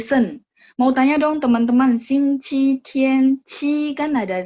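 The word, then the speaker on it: 星期天: Nah, buku-buku Taiwan itu dia bacanya nada 2. Xing Qi Tian. Ya, benar. ya. Jadi buku-buku Taiwan dan kita maksudnya yang di Indonesia ini kan sebenarnya dari Nanfang, dari apa daerah-daerah selatan. Nah, itu memang kebiasaan baca nada dua. Tapi secara kita bilang gini, si China itu menetapkan Hanyu Biaozun, jadi standar bahasa Mandarin, itu bacanya nada satu, Xing Qi Tian.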